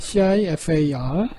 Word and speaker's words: CIFAR: 자, 두 번째로는 이제 우리가 CIFAR, CIFA라고 합니다. CIFAR. 이제 발음이 우리말로 좀 거칠어지기 때문에 10개의 클래스를 이렇게 나누는, 좀 전에 우리 했던 것이 이 중에서 5개가 상위권이고요.